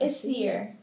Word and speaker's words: Essyre: I didn't know how to pronounce that. Essyre. Say it again. Essyre.